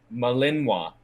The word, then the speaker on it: Malinois: that as a win malinois say it again malinwa african i think you guys are not gonna guess this one can you spell it uh yeah sure um m a l